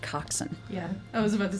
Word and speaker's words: coxswain: one who constantly steering the ship it's actually pronounced coxson yeah I was about to say [ __